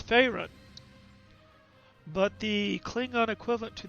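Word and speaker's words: Ferasan: since we did afraid i've been mispronouncing it from last time i've been saying parisian it's not for asian it's pharyn but the klingon equivalent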